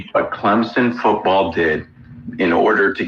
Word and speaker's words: Clemson: They'll be at that other Death Valley, the fake Death Valley as they take on the Clemson Tigers. Got to say it right. Clemson. Not Clemson. Clemson.